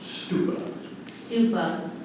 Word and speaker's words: stupa: this a noun yes are there any alternate pronunciation there is one stupid or the main pronunciation stupa s t u p